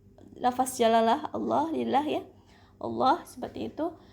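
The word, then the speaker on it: الله: jalalah Allah lillah ya, Allah seperti itu. Tapi kalau di standar Madinah di sini membacanya tanda bacanya tidak panjang, tapi kita membacanya panjang karena lafaz jalalah itu dibacanya dengan panjang ya.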